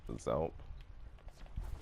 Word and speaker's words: X3LP: If you want to know more about that, you can look at a video from someone like Zelp. That's spelled X3LP. I know it's a bit weird, but okay.